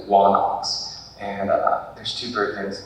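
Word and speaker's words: ϝάναξ: So we know that some people's names originally had what pronounced the W sound in front of it. So the word for king usually is written onox, but it was known as wanox.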